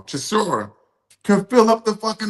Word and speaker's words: Chisora: guys like Derek Chisora, what I always pronounce his name wrong, Chisora, can fill up the fucking arena.